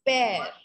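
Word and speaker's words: père: A word P-E-R-E, we pronounce it as pear.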